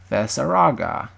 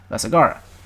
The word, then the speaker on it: Vesagara: Say Vesaraga. Or Vesagara. I don't know why I said Raga. Vesagara.